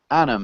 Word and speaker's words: Anam: thanks for asking and Anam how do you pronounce your name exactly as you pronounce it perfect I knew it um Anam where are